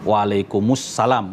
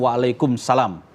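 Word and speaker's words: وعليكم السلام: Waalaikumussalam. Waalaikumussalam. Bukan waalaikumsalam. Waalaikumussalam. Ee karena itu bersambung alif lamnya. Alif lam ee syamsiyah. Heeh. Jadi dibaca karena bersambung dengan kata sebelumnya.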